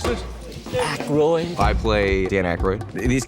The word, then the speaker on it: Aykroyd: Dan how the fuck do you pronounce this? Aykroyd.